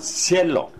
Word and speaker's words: Cielo: 거기 보시는 대로 C자는 발음이 두 가지죠. 원래는 쌍 기역 발음인데 뒤에 모음이 E자나 I자 오게 되면 쌍 숏 발음으로 바뀐다는 걸 기억하세요.